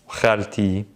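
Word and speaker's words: خالتي: We don't pronounce it, but when there's attachments, specifically possession involved, if I want to say my car, the car of someone, anytime we have of to, we pronounce the T.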